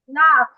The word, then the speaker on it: laugh: এই যে দেখো, LA আছে, Laugh. লাফ। UGH এর উচ্চারণ পা হয়, ঠিক আছে?